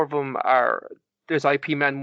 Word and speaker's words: Ip Man: One of the characters from the IP Man became quite popular. Is it IP or is it IP? IP, but I say IP. It's Ip Man is how it's pronounced.